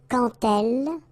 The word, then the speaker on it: quand elle: So like that, quand elle. Alright, same rule here. Remember, when you will have this D, you will phonetically pronounce it like T.